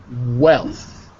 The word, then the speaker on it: wealth: I want to hear wealth well Wow well yeah because I keep hearing you say health with an H instead of a w so joys and dilemmas